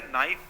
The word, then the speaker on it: NiFe: तो इसको कहा जाता है नाइफ, और हिंदी में इसको अगर आप प्रोनाउंसिएशन करेंगे तो इसको नीफे कहा जाता है।